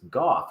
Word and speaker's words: Goff: nameless um he said how do you pronounce 16's name i said goff he goes oh i thought the g was silent because yeah that's pretty good